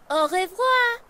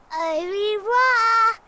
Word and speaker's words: au revoir: How do you say goodbye in French? We say au revoir. Au revoir.